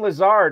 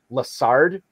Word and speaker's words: Lazard: he talked about alan lazard he always pronounces his last name lasard instead of lazar and i always think